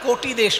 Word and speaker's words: কটি: আমরা তো বাঙালি, ক লিখলে ওকার উচ্চারণ করি, ওকার লিখলে ওকার উচ্চারণ করি। তাই কটি তো আমরা বলি না, কোটি দেশ বলি, মানে কোমর।